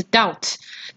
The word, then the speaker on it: doubt: 好，接下来看第八课第 16 个单词 doubt 呢，要注意它的 b 是不发音的，名词、动词都是念 doubt。